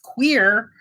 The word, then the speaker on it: queer: you on the quiz queer does it rhyme with snow or hear or though or no yes queer rhymes with here so queer is b